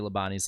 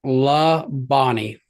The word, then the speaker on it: Labonte: pronounce Bobby and Terry Labonte's last name. It's like La Bonnie. I've heard it Labonte as well.